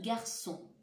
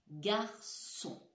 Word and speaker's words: garçon: Garçon. Garçon. On lève son ardoise, les enfants. Bravo. Si vous montrez le rond, comme moi, vous avez raison. Dans garçon, j'entends S. Je l'entends dans la deuxième syllabe.